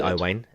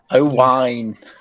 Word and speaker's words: Owain: Well, like strain. True. Like rain. No, like wine. Yeah. Like mine.